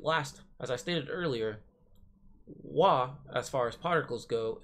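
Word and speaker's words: は: nouns are marked off nouns are marked by this particular particle so after a noun in you type or write in the war particle hop but instead of pronouncing it as such you go as wha here's an example but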